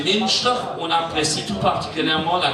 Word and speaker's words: Münster: Le Münster, prononcé Münster, on apprécie tout particulièrement la compagnie des oignons de mai ou Maizebele, prononcé Maizebele.